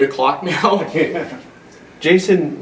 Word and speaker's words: Jason: Jason rhymes with chasin', Yeah.